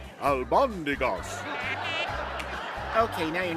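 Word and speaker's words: albóndigas: It's pronounced albondigas.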